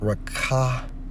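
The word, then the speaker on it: רָחַף: When we focus on moved, according to the Hebrew Strong's H7363, pronounced as rakapa, okay, which means what?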